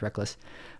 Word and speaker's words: Rekkles: back of my head I say rekkles when his name is reckless but Brock's is played